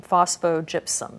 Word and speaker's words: phosphogypsum: You're the first commercial recovery of rare earths from phosphogypsum. Is that pronounced properly? That's correct.